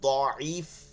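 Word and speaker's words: ضعيف: ওই জয়ীফ হাদিস বলে, জয়ীফ কিন্তু মূলত দয়ীফ, দয়াদ আইন ইয়াফা, দয়ীফ অর্থ হচ্ছে দুর্বল, দয়ীফ শব্দ অর্থ কি, দুর্বল। আপনি যদি বলেন হুজুর তাহলে উচ্চারণ কোনটা সহি, দুইটাই সহি, তবে প্রথমটা দোয়াতের দোয়াত উচ্চারণ করাটা সহি, ঠিক আছে, এটা সব থেকে মানে সহির উপরেও ভালো। আপনি এখন থেকে বলবেন দয়ীফ হাদিস, তো এটা ভালো।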